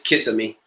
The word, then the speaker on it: Kissimmee: where Disney really is its Kissimmee well pronounced is Kissimmee but uh Kissimmee so that was my